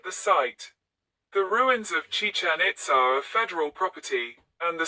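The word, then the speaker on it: Chichén Itzá: The name is spelled Chichen Itza in Spanish. And the accents are sometimes maintained in other languages to show that both parts of the name are stressed on their final syllable.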